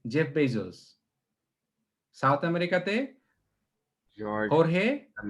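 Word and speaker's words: Jorge: South আমেরিকাতে হোর্হে, এটা কিন্তু জোরগে না, যখন জে দিয়ে নাম হয় উচ্চারণটা, এটা হোর্হে বলে আর কি, এইট উচ্চারণ হয়।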